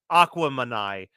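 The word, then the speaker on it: Aquemini: reference yeah or uh Aquaman uh pronounced to rhyme with Gemini because it's a mix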